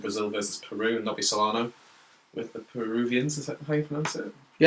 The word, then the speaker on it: Solano: Brazil versus Peru and Nobby Solano with the Peruvians. Is that how you pronounce it?